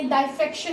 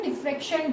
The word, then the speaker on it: diffraction: So diffraction means diffract होना raise का, कोई ने डाइफ्रेक्शन भी बोलता है, तो आप कुछ भी प्रोनाउंस कर सकते हो, डिफ्रेक्शन, डाइफ्रेक्शन, ठीक है।